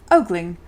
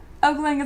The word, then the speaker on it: ogling: Just Single says, in that case, ogling. Ogling is a common way to pronounce it with a long O sound. However, it's often ogling. Like father or pawn in many English dialects.